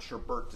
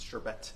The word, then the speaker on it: sherbet: Well, because everyone pronounced it wrong, because it's not sherbert, it's sherbet.